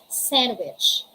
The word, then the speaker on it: sandwich: We don't say sandwich. Pronounce na pronounce hindi. It's sandwich. We say Wednesday, handsome, handkerchief, and sandwich.